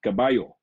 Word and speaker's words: caballo: uh what else words in spain they pronounce double l as almost a y so for example c a b a c-a-b-a-l-o would be read as caballo in the philippines we